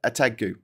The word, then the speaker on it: Ategu: It is pronounced et Ted Gu. Ted Gu. It's like Gyoo. How do you pronounce that? Gu. Ategu.